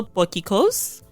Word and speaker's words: potjiekos: There's also potjiekos, which is spelled nothing like how it sounds.